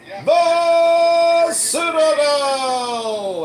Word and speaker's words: Citadel: The Citadel Citadel. That's how you say it, Brad.